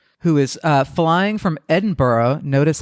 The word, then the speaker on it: Edinburgh: at Dogwood fire who is uh flying from Edinburgh notice how I pronounced that correctly um flying from Edinburgh to